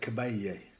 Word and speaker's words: Caballé: It's the double L Spanish thing. It gets the sort of, it's pronounced like the Y in million, you know, so, and it's just going to be annoying.